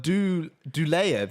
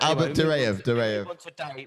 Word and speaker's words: Duraev: There's not even an L in there. You pronounce it with an L. DURAEV. Albert? Albert DURAEV. Albert Dulaev, you said.